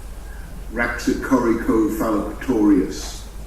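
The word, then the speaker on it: Raxacoricofallapatorius: So, how do we pronounce that? Raxicoricophalopatorius.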